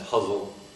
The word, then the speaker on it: ghazal: And finally, the ghazal, that's spelled G-H-A-Z-A-L. Sometimes huzzle is an Arabic poetry form.